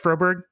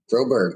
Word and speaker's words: Froberg: I'm here with uh Tyler froberg did I pronounce it right froberg froberg that's right exactly how it's SP okay good